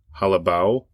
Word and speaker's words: Jalabáo: going to open up this it's now it's pronounced halaba so j a l a b AO but